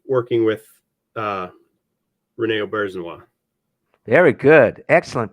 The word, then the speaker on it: Auberjonois: maybe what was it like working with Rene Auberjonois? Very good. Excellent pronunciation of his last name. Thank you. A lot of people get it wrong. What was it like working with Rene Auberjonois?